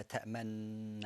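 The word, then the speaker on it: تأمنا: you say لا تأمن, but above that تأمن, but there is like almost like a wow, but you don't pronounce that, but you do it with your lips.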